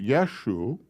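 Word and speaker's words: ܝܫܘܥ: That word is pronounced Yeshu, which means Yeshua.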